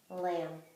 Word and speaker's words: lamb: this silent letter combination typically comes at the end of the word hmm what do we think that's right at beef and I would combine that with an M to make this silent beef or that silent unsound B lamb let's try one last